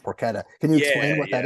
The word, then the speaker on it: porchetta: would would it's spelled like porchetta but it's pronounced poretta can you explain what that is yeah so